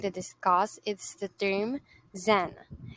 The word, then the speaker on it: Zen: The first terminology that we are going to discuss is the term Zen. Zen is the way the Chinese word Chen is pronounced in Japan.